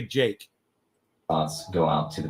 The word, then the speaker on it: Jikh: His name is spelled Jikh, Jake. Andre Jake, and it's Andrei, Andre, space Jikh. All right, that's how you spell his name. It's pronounced Andre Jake.